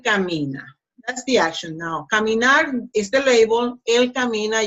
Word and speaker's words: caminar: Pronunciation, caminar, caminar. So, the last syllable, nar, is the strongest one. See? Caminar.